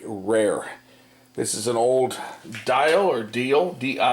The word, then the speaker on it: Diehl: old and very rare this is an old dial ordeal di e HL it is how it's pronounced just so the name is he dial electro kitchen clock or desk clock this thing